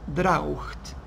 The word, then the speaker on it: draught: In England, que es más complejo, se escribe draught, con G-H-T. Hoy no lo necesitamos, pero sépanlo, la pronunciación es igual, o prácticamente igual en ambos lados.